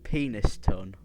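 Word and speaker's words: Penistone: penis ton. That's how it's said, Peniston, but it's got penis ton.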